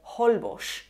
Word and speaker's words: Holbox: Hay algunos nombres de lugares en los que la X no está a inicio de palabra y también se pronuncian como J o como sh porque se han fosilizado, como México o la isla de Holbox.